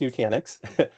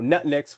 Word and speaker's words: Nutanix: of f you know it's so first it's pronounced Nanix um some folks have said you know Nutnix which sounds like a you know a breakfast